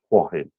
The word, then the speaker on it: Hua Hin: to Hua hin in some people pronounce it but it's actually Hua him h u i got myself in trouble now h-u-a-h-i-n then um and I'm